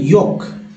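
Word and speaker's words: yolk: से क्यों, तो देखिए इसे बोलते हैं योक, योक। एल जो है एल साइलेंट होता है।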